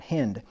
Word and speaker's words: hind: and she was right let her be as the loving hind not hind' hind and pleasant row let